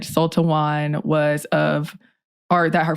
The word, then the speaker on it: Sul-Te-Wan: different reasons there were some sources that said sultawan was of art that her father Sultan's father